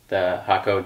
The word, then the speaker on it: Hakko: We use the Hakko Digital, that's how you say it, the digital irons that work really well in the shop.